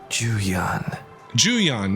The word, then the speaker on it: Shen Juan: Juan a missing person Juan Jan that's how you pronounce it the one you're